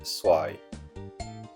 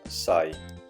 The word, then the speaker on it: xoài: La mangue s'appelle soai. Toutefois, avec l'accent du sud, on prononce sai, ce qui signifie utiliser.